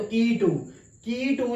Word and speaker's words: Quito: तो की टू जो है वो इसका कैपिटल है, कीटो, ठीक है, जिसके स्पेलिंग जो है वो ये है QUITO, ठीक है।